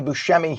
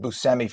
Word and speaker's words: Buscemi: Just like the actor Steve Buscemi, it's properly Buscemi. His family pronounces it Buscemi for the same reason, because Americans pronounce it that way.